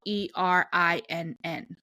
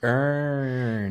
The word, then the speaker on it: Erinn: Erin is spelled ErinN. Mm-hmm. So it's not like it's more like Erin, like it's not said. Earn.